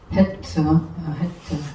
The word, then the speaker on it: חֵית: 그래서 헤트인데 히읗은 히읗인데 강한 히읗은 헤트. 해하고 틀리잖아요. 해하고 발음이 틀려. 해는 그냥 해 하지만 헤트 강하게 나가죠. 히읗이 강하게 납니다.